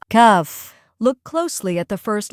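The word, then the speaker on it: كاف: Today, we're moving on to the next letter, cuff. We'll look at how it sounds, how to pronounce it correctly, and go over a few easy examples to help you remember it.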